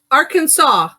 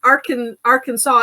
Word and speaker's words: Arkansas: Arkansas. Yeah, well, yeah, here's what's funny. So if you took off the AR, because we do have Kansas, we don't say but Arkansas is not Arkansas.